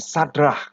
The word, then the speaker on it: Sadrach: sejenak Siapa Mereka ya Satra itu dalam bahasa ibraninya dibaca dari kanan ke kiri ya Ada Sameh dalet ya kemudian ada Roy itu bacanya sadrach Ya dan Kav Nah